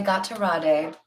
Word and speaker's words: Gatorade: sip of my Gatorade one of my favorite things to do is say got to Raw day because I spent some time in Mexico and apparently that's how you say it we have Two of